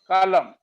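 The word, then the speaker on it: column: ऐसे ये सर एम एन आ गया तो एम गया एन रह गया, ऑटम, एन गया एम रह गया, आठम, कालम।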